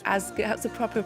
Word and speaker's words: Ásgeir: Oh, just to double check, so it's Ásgeir, that's the proper pronunciation. Yeah, Ásgeir, that sounds good. That's Back good. home we say Ásgeir. Ásgeir.